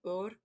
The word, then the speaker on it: Ura: So this one is Heather or Ura, URA, pronounced Ur.